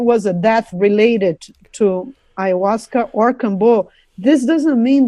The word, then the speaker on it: ayahuasca: This is no evidence that, he was doing anything wrong or that anything was related to ayahuasca.